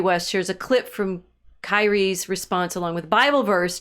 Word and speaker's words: Kyrie: he's tweeting a response to Curie's. I want to say Curie, and that's not the way they say his name. Um, that Kanye West shares a clip from Kyrie's response along with Bible